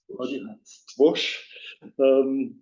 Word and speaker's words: Stwosz: Among them is an artist who lived at the same time as Stwosz, as you pronounce him in Polish, and similar genius in his art.